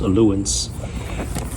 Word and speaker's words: Ailunce: look at this ratus I think it's pronounced alance this is the h1g